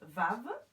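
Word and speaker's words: וָו: Ce qui est intéressant de remarquer, c'est que cette lettre-ci se prononce Vav.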